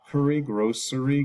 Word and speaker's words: grocery: how we spell it interesting spelling here grocery Grocery has a sh sound in there even though it's a c grocery store groceries grocery